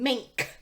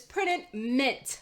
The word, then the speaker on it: Printed Mint: talk about printed mint i know a lot of times when i say printed mint you guys think i'm saying mink because of how i pronounce that tea but it's printed mint we're going to talk